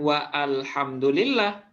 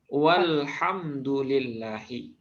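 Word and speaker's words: وَالْحَمْدُ لِلَّهِ: Bacanya bukan wa alhamdulillah, tapi walhamdulillahi. Ya, walhamdulillah.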